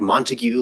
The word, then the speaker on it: Montague: And I realize his name looks like Montague, like in Romeo and Juliet. It's actually pronounced Montag.